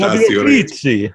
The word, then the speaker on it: Fabio Frizzi: Fabio Frizzi, I think that's how you say it.